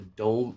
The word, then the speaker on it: DOM: Uh that's the dome. Dom. I call it the ladder. See, that's where you see the dom uh stands for depth of market. They pronounced the dome and it confused the entire I remember that